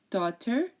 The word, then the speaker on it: daughter: E I O U if the word has any of these vowel letters um we do not pronounce the GH the GH in this case is silent again daughter night thought through and way okay and now uh